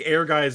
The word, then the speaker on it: Ehrgeiz: it's Ehrgeiz. I I Ehrgeiz. I think it's Ehrgeiz. Ehrgeiz. I think Ehrgeiz is the correct the correct pronunciation.